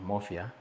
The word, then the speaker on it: Mofya: so much and uh I was asking how we pronounce your last name Maia and you said it should be pronounced like Mafia so I was intrigued